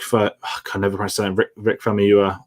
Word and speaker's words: Famuyiwa: Rick Famuyiwa, I believe it's pronounced, is doing an episode.